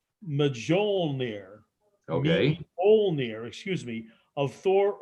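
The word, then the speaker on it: Mjölnir: field is based on the mythological hammer it's pronounced majol near okay excuse me of thor ordenson which is the god of thunder god of thunder yeah oh yeah the myth tells us that meow near never missed his target never missed his target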